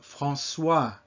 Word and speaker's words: François: The OI combination, wa. You've probably seen the name François before. It's not the same as Français.